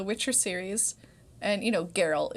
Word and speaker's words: Geralt: series and you know geralt is spelt geralt yeah and we know how to say it now especially those video games but she's like i thought it was gerald oh 100 for a